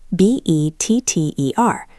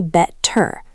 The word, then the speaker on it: better: Let's look at the word better. B-E-T-T-E-R. We don't say better. We say better.